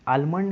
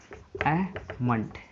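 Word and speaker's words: almond: आलमंड इज़ नॉट a correct pronunciation, अहमंड इसका correct pronunciation होगा, अहमंड।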